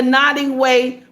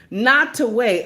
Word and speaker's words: Nottoway: Nottoway. Okay, I thought it was not. I'm saying it wrong. Thank you, 18 Nottoway.